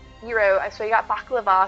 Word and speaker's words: gyro: you got a gyro i believe that'll tell you it's properly pronounced probably wrong but i know it's not gyro hero i swear you got